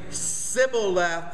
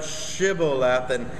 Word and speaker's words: Shibboleth: to do and and the people of Ephraim never you know had this sh sound so they couldn't pronounce it so they're saying Sybil left instead of shibble laughing and so of course